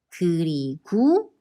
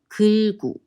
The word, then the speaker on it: 그리고: Another thing to remember is in an informal writing and speaking, 그리고 is normally pronounced as 그리고 or 글구.